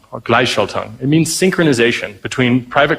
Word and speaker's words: Gleichschaltung: And it's, I'm really bad at pronouncing it, but it's Gleichschaltung, or Gleichschaltung.